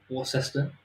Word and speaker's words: Worcester: Just that's how we pronounce it. Um, Worcester as well is Worcester.